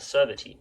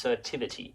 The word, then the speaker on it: Certivity: And the final more physically focused tech, let's say, is called Servity. Mispronounce it. It's Certivity.